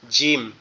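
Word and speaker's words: ج: আছে, একটা ফোঁটা আছে, এটাকে বলা হয় জিম। জিম, এই জিমটা কোথা থেকে উচ্চারণ হবে? জিমটা হচ্ছে আমাদের জিহ্বা যেটা আছে, এই জিহ্বার মধ্যকান উপরের তালুর সঙ্গে লাগবে। জিহ্বার মধ্যকান উপরের তালুর সঙ্গে লাগবে, লেগে উচ্চারিত হবে শক্ত আওয়াজে, এরকম দাঁতের পাটি দুটো একসাথে লেগে থাকবে শক্তভাবে।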